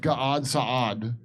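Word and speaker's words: Gad Saad: Oh, how about Gad Sad? He's not on Gad. That's another guy off the top of my head. Thousand% Zionist. That's pronounced Gad Sad.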